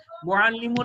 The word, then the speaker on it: মুআল্লিমা: মুআল্লিমুন একজন পুরুষ শিক্ষক, মুআল্লিমাতুন স্ত্রী শিক্ষক। এই মুআল্লিমাতুনের তাকে যখন ওয়াকফ করবেন তখন তার উচ্চারণ হা হয়ে যায়, তখন আমরা এটাকে মুআল্লিমা বলি, মুআল্লিম মুআল্লিমা বলি।